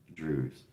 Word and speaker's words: Drewes: It's spelled Drewes. Drew's.